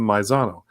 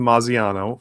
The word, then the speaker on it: Mazzano: So, like Jonathan's name is Jonathan Mazzano. Todd has called him Jonathan Mazziano for the past 2 years, even though that's not his name.